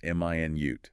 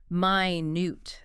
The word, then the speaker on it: minute: This one depends on stress, right? Stress on the first syllable. M i nute. That's the unit of time 60 seconds. Stress on the second syllable minute. That's the adjective meaning very very small tiny.